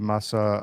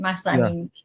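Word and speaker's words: Mahsa: That was uh that happened after the death of Masa Amini. Did I pronounce her name right? Yeah, correctly. Masa.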